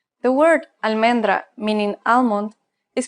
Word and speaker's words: almendra: pronounced as its red almendra the word almendra meaning almond is pronounced al men dra it's pronounced exactly the same as it's written almendra the same thing